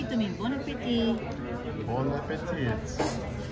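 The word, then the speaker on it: bon appétit: You say to me, bon appetit. Bon appetit. No, you don't pronounce the T.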